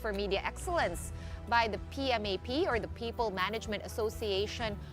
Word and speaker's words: PMAP: media Excellence by the pmap or the people Management Association of the Philippines sorry I pronounced it wrong it's pmap so the makata awards